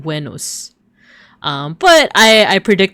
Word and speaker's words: Venus: So wenmon, which is a little bit closer to how it would have been pronounced uh in Latin, I guess depending on like which version of Latin, but it would have been wenos.